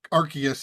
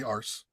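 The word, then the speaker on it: Arceus: to pronounce it yeah I think AR archus is now the official pronunciation okay just because they don't want people to say ARS that's a good point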